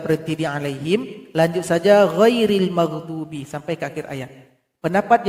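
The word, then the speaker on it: غير المغضوب: Ghairil maghdubi. Lam dan huruf ghain tidak boleh dipantulkan. Ghairil maghdubi. Tidak boleh seperti itu.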